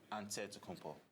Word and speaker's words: Antetokounmpo: dead to compo but in the greek way you say with the nt like antetokounmpo whatever you got just